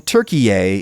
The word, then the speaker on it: Türkiye: Opinion seems to be coalescing around Turkey-yay, so I'm going to try to switch to saying Turkey-yay in normal conversation. So speak now or forever hold your peace, Turks. If you don't want to be Turkey-yay, with the emphasis on the last syllable and everything, tell me now.